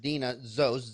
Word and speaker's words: Deana Zost: So again, it's spelled Deanna, but pronounced Deana Zost.